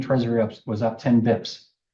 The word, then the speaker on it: bps: in a habit so bips so what is it today that is 1.3 dips that's 1.3 like now on paper say basis once but bips is spelled BPS but there's no I in it but bips but use